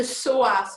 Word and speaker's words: psoas: hour um on the psoas muscle it's start with a p it's a silent p it's all very strange